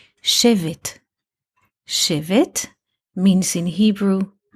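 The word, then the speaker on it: שֵׁבֶט: a noun which is written in the same letters but pronounced a bit differently shave it Shiv it means in Hebrew a rod a came a stick save it save it those letters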